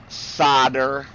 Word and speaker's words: solder: Solder. I'm not British. We do not pronounce the L. Oh. You solder.